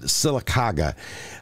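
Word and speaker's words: Sylacauga: make it to 91 that's right Laura you pronounce it silaga uh 88 will be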